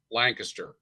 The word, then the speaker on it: Lancaster: So, and that's actually pronounced Lancaster, right?